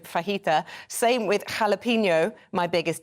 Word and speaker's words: fajita: mayak um Fenn says people that mispronounce words fajita where they pronounce the j instead of fajita same with jalapeno my